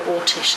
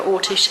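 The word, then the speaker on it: Oršić: little around about Maria Ortish, and there's also complications about how her name is spelt. A lot of people spell it Orsic, O-R-S-I-C. I don't believe it was that. I believe it was Ortish.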